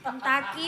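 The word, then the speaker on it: Kentucky: Kentaki bacanya. Tulisannya beda.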